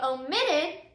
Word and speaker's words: omit: minute right and so whenever we say omit omitted then you can hear that the last syllable is again the strongest syllable so before we added